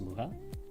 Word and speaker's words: Mucha: called uh you spelled you spell it like mucha like in Spanish like mucha m u c h a think it's alones alones muha.